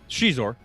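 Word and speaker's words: Xizor: How's it pronounced? Shizor.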